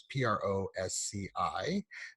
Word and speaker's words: Prosci: I believe I'm pronouncing that right. It's PROSCI.